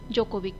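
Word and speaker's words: Djokovic: इनके नाम में डी साइलेंट होता है, सो हम इनको जोकोविक कहते हैं।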